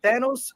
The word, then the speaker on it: Thanos: Thanos rhymes with Davos.